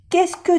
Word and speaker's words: qu'est-ce que: No se pronuncia la S y la T. Qu'est-ce que? Qu'est-ce que? Qu'est-ce que? Ni la E aquí.